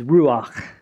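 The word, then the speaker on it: רוח: of God now the word there in Hebrew for spirit is ruach can you see that with me at the end you got to have a little guttural little I was listening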